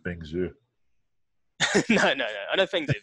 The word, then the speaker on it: Feng Zhu: When I first started, do you know Fen Hua Zong? Feng Zhu? No. Yeah. I thought you just really butchered Feng Zhu.